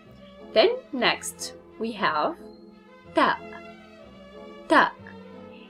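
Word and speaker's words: تاء: Then next we have ta, ta. It's pronunciation just like a t in English, t, t.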